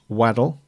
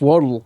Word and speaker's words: Waddle: V at the beginning it's a w and it rhymes with model so it can only be W waddle waddle right so